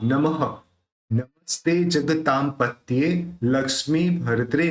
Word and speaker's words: नमः: नमो देखि य पर जो विसर्ग है उसका ह निकलेगा लेकिन वो ह इस तरह से क्लियर सुनाई देना चाहिए उसको क्लियर सुनाई देना चाहिए विसर्ग को नमः नमस्ते जगता पत लक्ष्मी